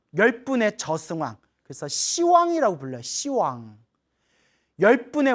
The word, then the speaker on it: 시왕: 시왕 열분의 왕 시왕 원래는 10왕인데 발음이 너무 세기 때문에 이거 욕 같잖아요. 이런 시왕 그래서 발음을 낮춰서 시왕이라고 부르는 거예요.